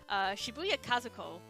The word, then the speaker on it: Shibuya Kazuko: well make sure I say her name properly Shibuya Kazuko who was the original pixel artist for Final